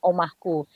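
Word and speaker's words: Oemahkoe: Penulisannya Oemah kowe, dibacanya omahku.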